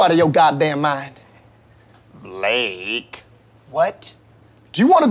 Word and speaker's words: Blake: I've got my eye on you Jake pauler Malaki where is balakay at nobelaka here today yes sir my name is Blake are you out of your goddamn mind Blake what do you want to go to war